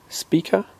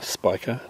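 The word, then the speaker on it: Spica: the the sky is a star speaker or Spiker depending on your pronunciation the brightest star in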